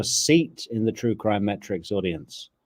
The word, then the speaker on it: Mertrix: It's true crime metrics as in metric system.